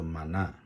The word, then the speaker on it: 嗎哪: 那希伯来的念法叫做玛纳，所以后来我们就用这样的发音就这个东西就变成那个玛纳当上帝告